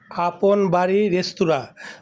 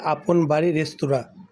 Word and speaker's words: আপন বাড়ী রেস্তোরাঁ: আপন বাড়ি রেস্টুরামবাড়ি আপন বাড়ি রেস্তুরা উনার উচ্চারণ করতে ভুল হচ্ছে দোকানটার নাম হবে আপন বাড়ি রেস্তুরা এখানে ডিমের তরকারি কত